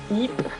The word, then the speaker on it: Ypres: of all the places that I've been to, Ypres is how I was told to pronounce it, in Belgium, is definitely one of my favorite cities in the entire world.